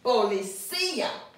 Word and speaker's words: policía: Ladrón, avión, autobús, autobús, policía. We want to say policía, but that's not the way we're going to pronounce it. It has an accent mark.